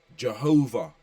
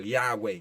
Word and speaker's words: Yahweh: is who he is that was changed into Jehovah by English-speaking people yeah which is a mispronunciation they butchered the name of the most high and some people use the title Yahweh which only means good yeah and where evil you so that's not really a good title either but the modern